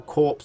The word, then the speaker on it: corps: Similar units can also be combined to form a powerful corps unit. Hopefully I'm pronouncing that right, because it doesn't sound right. It sounds like I'm saying corpse.